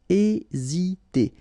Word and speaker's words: hésiter: Remember, H is not pronounced, so first letter here is E. Hésiter.